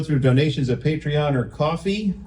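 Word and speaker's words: Ko-fi: donations of patreon or coffee see I said it right you did um cuz I spelled it coffee on the note so I would SP it that way uh we have merch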